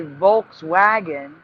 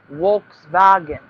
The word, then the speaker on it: Volkswagen: It's it's Wolks Waltz Vagen because the V is pronounced the W and a W is pronounced the V. So we say Volkswagen and they say Wolks vagen because the letters are pronounced opposite.